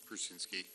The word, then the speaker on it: Prusinski: Yes, I attended it was the August 4th meeting, and I was primarily interested in meeting Megan Prusienski. Is that how you say her name? Prusinski. What? Prusinski.